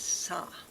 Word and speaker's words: sa: to the karma family, and the sound is sa, S-A, and the color's green.